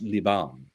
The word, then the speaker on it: Liban: French spelling of it, which is, I believe, pronounced Liban, and it's not spelled Lebanon.